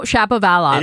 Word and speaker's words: Shapovalov: No, Shapovalov.